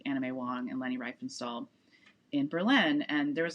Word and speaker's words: Riefenstahl: Riefenstahl, together at a party.